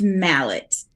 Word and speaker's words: Mallett: how do you say your last name it's Mallet Angela Mallett Angela Mallett so our last name is I'm sure you haven't gotten any grief over the years about having the last name of Mallet yeah people want to call it uh Millet